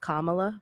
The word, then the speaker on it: Kamala: I think her name's pronounced Kamala, but it's okay.